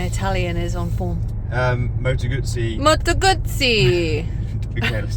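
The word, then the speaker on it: Moto Guzzi: that you don't know you pronounced it really well that's the correct way to pronounce it my Italian is on form um Moto gutsy Moto gutsy okay let's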